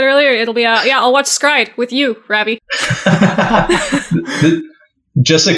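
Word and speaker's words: s-CRY-ed: Is it actually pronounced Stride? I don't actually know. I've just it is. It is actually pronounced Stride, but it's spelled like S-Cried.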